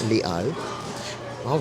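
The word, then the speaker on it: Les Halles: she told me that you do not pronounce the h or the S on that portion at the 's part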